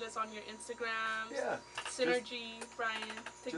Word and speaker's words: SYNRGY: years and it's like Synergy with the E and I'm like really bro like spell it out s y n r g y Synergy that's the band name uh Synergy without the e so you can check